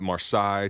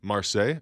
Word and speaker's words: Marseille: It is Marseille, though. Oh. Is that right? Okay. Marseille? Okay. I always said Marseille.